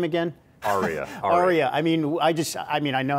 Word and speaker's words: Ariya: Ariya.